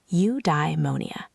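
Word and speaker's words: eudaimonia: The word Aristotle used was udemonia, pronounced udimmonia.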